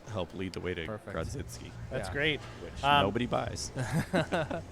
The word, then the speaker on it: Grodziskie: I'm going to get killed if somebody, by somebody if I don't say it the right way, but Grodziskie is actually how it's pronounced.